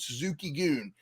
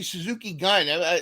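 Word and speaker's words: Suzuki-gun: factions in the world Suzuki goon led by perhaps correctly what's that thank you for saying it correctly yeah some people say Suzuki gun Suzuki goon I'm trying to say it that way and it's led by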